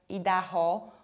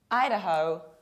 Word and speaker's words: Idaho: And this state is not pronounced like Idaho or Idaho, but it's Ida, like the name of a girl, Ida, ho, Idaho, Idaho.